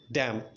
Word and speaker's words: damn: Next డ్యామ్. డ్యామ్ అంటే ఏంటంటే DAMN, డ్యామ్. ఇక్కడ కూడా ఎం తర్వాత ఎన్ ఉంది, బట్ దాన్ని మనం డ్యామ్ అంటున్నాం.